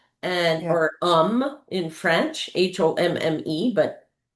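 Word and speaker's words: Homme: or um in French, H O M E, but he was not of French descent, but he had a French last name, but he pronounced it home.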